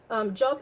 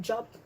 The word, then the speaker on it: Job: But Job is an American word, so they pronounce it in the American English pronunciation.